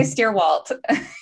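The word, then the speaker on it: Stierwalt: and it's is it steer bald your last name uh yes if appropriately said um but how would you prefer it said i just say stairwalt you pronounced it like better german uh how does that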